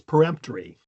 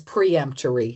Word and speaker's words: peremptory: Because we're not trying to preempt something, right? We're trying to perempt something. Exactly. Perempt, perempt, Ory. Sorry, yeah. Basically, you got me there. I mean, yeah. And this is one where you do metathesis and you change it. It becomes preemptory, is what most people say.